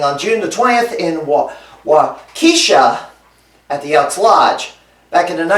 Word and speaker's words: Waukesha: It's pronounced Waukesha.